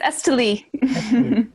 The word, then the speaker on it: Esteli: evocation and uh is stanley am i pronouncing your name correctly it's esteli okay yeah accent there we go thank